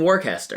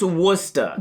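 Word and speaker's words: Worcester: What's happening in Warchester? Wora. What? It's pronounced Worca.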